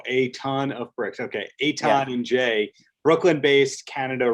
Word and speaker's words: Etan: jay and eton etan how do you say his name uh like a ton of bricks oh a ton of bricks okay etan and jay brooklyn based